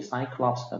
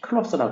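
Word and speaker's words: Cyclops: 신화에 나오는 외박의 거인 영어로 하면 이제 사이클롭스가 되겠고 이제 그리스어 그 발음 그대로 하면은 이제 클럽스 이제 이렇게 하죠 클럽스 그다음에 마스 하면은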